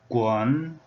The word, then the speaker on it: 丨: The pronunciation is guan, guan, just like this, having tone number 3 value.